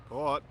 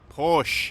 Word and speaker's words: Porsche: this one ร ถ ป ๊ อ ด Port Oh Porsche no Porsche That's my car I don't know,